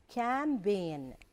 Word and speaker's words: campaign: media can be in this word here is campaign we don't pronounce the J sound okay then here we